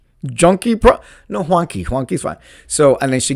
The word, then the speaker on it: Juanki: She was like Juanki, and I was like, oh, you got it right, Juanki, you got it right, because usually people that